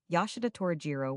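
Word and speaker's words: Yoshida Torajiro: The name you are to pronounce with an equality of accent on the different syllables, almost as in French, the vowels as in Italian, but the consonants in the English manner except the J, which has the French sound, or, as it has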